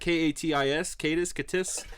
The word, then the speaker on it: Katis: I'm going to say it's pronounced Katis.